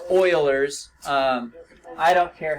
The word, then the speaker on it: Euler: doesn't have the sailors I said yeah it's pronounced Oilers I don't care how you pronounce it but